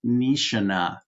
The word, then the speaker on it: Nishina: The man on the left is Sub-Lieutenant Seikyo Nishina. Now, in the Japanese language, the letter I is pronounced like a long E in English. So the correct pronunciation is Nishina.